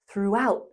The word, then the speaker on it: throughout: Throughout. Throughout. The through part is the same as number two. It sounds like you, new, blue, ooh.